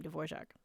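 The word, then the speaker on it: Dvořák: where I learned how to say his name dvorac so it wasn't music school it was actually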